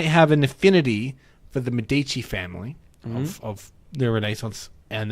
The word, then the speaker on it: Medici: work for against the Medici I know it's pronounced Medici don't run it i I can't remember actually